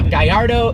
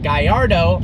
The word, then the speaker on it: Gallardo: island unfortunately it's the guy Ardo superleggera now it is pronounced guy our dough because the name is a Spanish fighting bull even though lambhini is